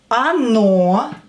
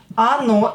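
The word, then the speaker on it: оно: Ono, it. Ono, again, o not stressed, pronounce it as a.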